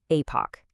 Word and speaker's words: Epoch: And by the way, that is pronounced Epoch.